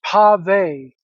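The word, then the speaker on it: pavé: The necklace, the pave necklace, it's pronounced pave.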